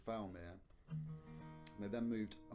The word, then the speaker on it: Fowlmere: My dad's the village I was born in is called Falmere. And they then moved a mile up the road to the village called Triplo. My dad spent most of his childhood. Falmere is spelt Fowlmere, which the etymologists amongst